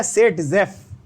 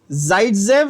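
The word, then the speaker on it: Zaitsev: Pronunciation का फर्क है, टेंशन मत लो। जाइडजेव जो है ये एक्चुअल करेक्ट प्रोनाउंसिएशन है, करेक्ट टर्म है, बट बहुत सारी बुक्स में आपको ये मिलेगा, इसलिए बता रहा हूं दोनों। ठीक है, इंडियन इंग्लिश में सेट-जेफ बोल लो, असल में जाइडजेव।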